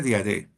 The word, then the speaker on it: Diadé: Bueno, pues nada, estamos con Ismael Diadé, se pronuncia Diadé.